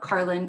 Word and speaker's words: Carlyn: Carlyn, Carly for short. I always say the N is silent.